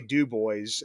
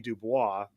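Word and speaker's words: Dubois: up here in Pennsylvania we say dub boys and it should be dubis but you know so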